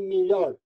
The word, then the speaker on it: melhor: Os portugueses dizem melhor, com o aberto.